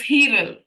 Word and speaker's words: Hiral: It's spelled Hiral. It's Hiral.